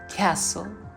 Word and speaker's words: castle: Now finally, when we do not pronounce T, of course that is called silent T. In words like listen, castle, hustle, and even moisten, we write T but never pronounce it.